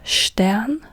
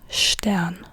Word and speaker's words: Stern: Then we have ST. ST is st. It's not st. So here we have Stern, star.